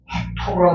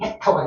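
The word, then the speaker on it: Hector: 헥토라고 들었습니다. 헥토. 근데 영어식 발음은 헥터가 되죠, 헥터.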